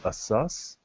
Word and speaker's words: ASUS: uh I think and every body has a different way of pronouncing the name I want to say it's assus but I've always called him Asus how I call him ASUS ASUS okay this is how they